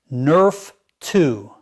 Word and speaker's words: NRF2: Your body has its own master anti-inflammatory switch controlled by a protein called NRF2, pronounced Nerf 2.